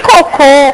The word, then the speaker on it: cocô: Pelo seguinte, em coco, qual é a sílaba tônica? O primeiro. Em cocô, qual é a sílaba tônica? Eu não troquei a posição do acento. Porque cocô tem acento no último O.